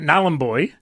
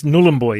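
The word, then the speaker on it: Nhulunbuy: nulan boy nullen boy now I've been calling it nen boy but it's nullen boy is it look I'm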